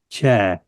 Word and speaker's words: tja: We have a wonderful word in Danish, spelled TJA. is pronounced cha.